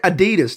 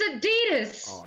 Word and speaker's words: adidas: does you say yes you say adidas don't you it's adidas it sounds like you're waving a cowboy hat above your head like I'll get those a D - shoes let's go adidas say with me it's